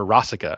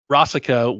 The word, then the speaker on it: Rasika: So the last course here, we had Rasika with pretzels, or Rasica, I think is how they pronounce her name.